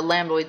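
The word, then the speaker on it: lambdoid: called the lamboid suture let's pronounce that lamboid lamboid suture say lamboid suture it's like a lamb that's doid it's a lamboid suture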